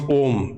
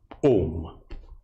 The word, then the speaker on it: Om: Swamiji, how to pronounce Om? Is it Om or Om? It's written A-U-M or O-O-M also. It is A, when you open your mouth, oh, this is a natural sound.